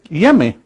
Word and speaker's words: Onyeme: These Ashanti people, they identify their Almighty Creator as someone called Yeme, or they have the word spelled is N-N-Y-E-M-E, O-N-Y-E-M-E, Onyeme, but they don't pronounce the O and the N.